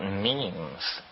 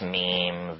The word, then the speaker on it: meme: last year about about memes you know what memes are memes are the smallest units of a concept and they're like genes the word is deliberately constructed to to rhyme with Gene and so when I